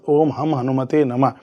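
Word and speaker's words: ओम हं हनुमते नमः: कर रहे हैं तो ओम हम हनुमते नम बहुत लोग इसको ओम हनु ओम हम हनुमत नम बोल देते हैं तो ये मिस्टेक हो जाती है गलत हो गलत हो जाता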